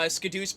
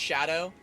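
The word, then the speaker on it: Scadu: I want to say it was day one that uh Scadoo's supposed to be pronounced shadow and in general there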